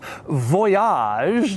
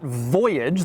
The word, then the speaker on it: Voyage: Let's start on the outside of the Voyage, and by the way, yes, it is pronounced Voyage, not Voyage. They wanted to give it a little French flair, and they certainly got